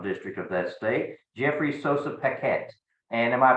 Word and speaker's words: Sossa Paquette: the second congressional district of that state Jeffrey Sosa Paquette and am I pronouncing that properly you pronounced that perfectly fantastic